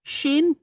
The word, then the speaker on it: Shin: so like I said dot over the left sounds like an s God over the right sounds like sh it and it's when it sounds like sh it's pronounced shin and when it sounds like s it's pronounced sin okay sin or shin so